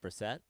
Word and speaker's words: Brissett: Is it Brissett? Yeah, it is. I always say it wrong.